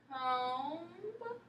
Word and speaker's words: comb: b sound and that's that b it has a m before it so that b is silent it doesn't say anything so try that word